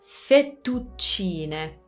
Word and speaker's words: fettuccine: So, fettuccine, fettuccine. Double T and double C. So fettu, little pause before the T's.